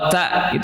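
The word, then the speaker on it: ت: Harap bedakan cara pengucapan huruf ta dan huruf tha. Ya, biasanya karena kita terbiasa dengan pengucapan bahasa Indonesia di mana tidak ada perbedaan antara tha dan ta— keduanya hanya "t"—kita menganggapnya sama. Itu tidak dapat diterima.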